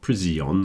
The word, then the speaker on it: prison: A lot of people get confused with prison and they try to put an extra syllable in after the S. It's not prison or anything like that. Prison. And again, the stress is at the beginning, so that O sound is contracted down to the N. Prison. Prison. You see, I'm not saying prison, I'm saying prison.